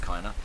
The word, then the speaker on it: Kiner: The other composer as well is Mr. Kiner, I think it's pronounced, or Kiner, I'm pretty sure it's Kiner, who did the music